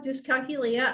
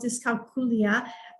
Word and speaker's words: dyscalculia: calculator is sure um some people call it dyscalculia other ones called discalculia uh it is the